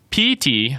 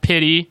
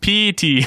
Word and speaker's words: Pity: the club's history and Petey Martinez it's pronounced like pee and then a t-shirt so if you guys are out correct your friends it's P T it's not pity no one is pitying